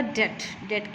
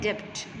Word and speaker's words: debt: तो वो फार्मर दा डेट की होंदा है? कर्जा। DEBT, डेट। We pronounce it डेट, you will not call it डेप्ट, this is डेट।